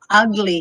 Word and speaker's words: ugly: you're so ugly ugly it's not ka okay it's go ugly you're ugly ugly yeah